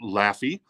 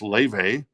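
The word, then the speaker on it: Laufey: modern day artist that is Le some might pronounce it lafy lafy but it's pronounced Le and this is the goddess Edition it's like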